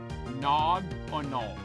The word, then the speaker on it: Cryogonal: I don't get what you guys say I'm saying Crynogonal wrong. Crynogonal. Crynogonal. That, like, I'm nailing that pronunciation.